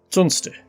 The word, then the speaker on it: Tunstall: Tunster is the local pronunciation of Tunstall, another of the original 6 towns of Stoke-on-Trent.